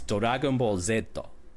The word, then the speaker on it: Dragon Ball Z: So, uh, not Dragon Ball Z, Dragon Ball Z, cuz in Japanese it's it's Dag Ball Zetto. So, Oh, okay. Yeah. The the Z is the Americanized.